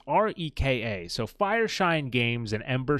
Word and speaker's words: Reka: So I'm not entirely sure how you pronounce it, but I'm going to say Reka. It's Reka.